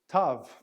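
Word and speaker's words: ταυ: of a tail but this is the sound Tav tough the word we're going to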